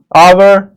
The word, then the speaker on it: hour: It will be noticed that the words hour, honest, heir begin with a vowel sound as the initial consonant H is not pronounced.